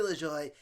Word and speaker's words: LaJoie: When I first, all of last year I was pronouncing this kid's name wrong. Now I got it. It's Corey LaJoie.